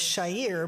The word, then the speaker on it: Chair: I married Muslim so my last name is Shyer but it's spelled chair and they screw that